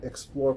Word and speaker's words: XPLOR: have on campus, and learned more about the Explore platform, which is spelled XPLOR.